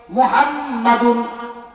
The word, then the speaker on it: মোহাম্মদ: মনোযোগ দিয়া জপেন না কারণ মোহাম্মদ এটা এমন একটা নাম দুইটা টু এক করা লাগে মোহাম্মাদুন মোহাম্মাদুন মিমের উপরে আবার তাজদিদ আছে এই তাজদিদ দ্বারা দুইটা টু একসাথে না করলে কিন্তু মোহাম্মদ নাম উচ্চারণ হবে না আমার আল্লাহ এটাই বুঝাইছেন